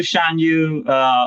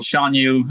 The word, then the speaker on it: Shan Yu: But also Shan Yu, or Shan Yu, how you want to pronounce it, very intimidating.